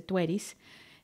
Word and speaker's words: Tueris: que está embarazada tueris se escribe tauet pero se dice tueris es la gran protectora